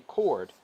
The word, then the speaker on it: chord: not through the center this is called a chord and it says pronounced chord here i might go back and